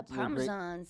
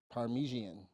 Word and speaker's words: Parmesan: spaghetti no yeah yeah paresan parmesan is that how you say it well it's actually parmesian parmesian yeah you right if